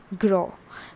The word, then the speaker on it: gros: number one is grow what is the pronunciation grow we are not pronouncing the word s over here okay so you have to look carefully s is not being pronounced here raw means fat okay